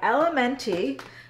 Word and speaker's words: LMNT: But first things first, this video is sponsored by Elementi. So if you guys don't know about them, they are an incredible electrolyte company. So it's LMNT, it's pronounced element, but this is our favorite flavor.